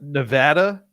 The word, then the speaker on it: Nevada: So the Sierra Nevada, did I pronounce that right this time?